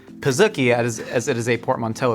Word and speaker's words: pizookie: They have officially said it is pronounced pizookie as it is a portmanteau of pizza and cookie, which begs the question, why not pronounce it pizzookie if it's pizza and cookie? Right. No, it's a pizookie.